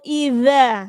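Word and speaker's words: إِذَا: Di situ idza, ya, hati-hati i-nya jelaskan jangan sampai keseret. Idza. Jadi za, huruf za pengucapannya yaitu ujung lidahnya harus digigit.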